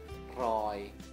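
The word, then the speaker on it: ร้อย: Dibacanya Roy, dikasih Maito. Jadinya Roy, Roy, Roy. Nadanya siang, tri.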